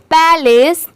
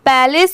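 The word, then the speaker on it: palace: आप सुने होंगे बट बहुत सारे लोग पैलेस को प्लेस पढ़ते हैं क्योंकि प्लेस और पैलेस लगभग सेम स्पेलिंग होती है जैसे पी एल ए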